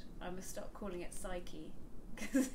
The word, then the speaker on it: psyche: none of them do, because the Greek pronunciation, you pronounce the P like psyche.